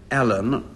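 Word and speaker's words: Alleyn: nice for him who was Chief Inspector Roderick Allen or I'm not certain what he isn't called Elaine because it's spelled a-w-l-e-y-n he's the detective in a novel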